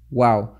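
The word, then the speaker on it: و: Your lips have to be completely round when you're trying to pronounce waw. Either that waw is mutaharrik, or that waw is maddiya, sakin. So you will say So you have to make a round face, round shape of your lips in order to pronounce waw correctly.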